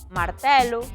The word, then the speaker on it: martelo: Só se pronuncian con E aberto amarelo, velo, cancelo, castelo, martelo, modelo, paralelo, pesadelo, sinxelo ou xurelo.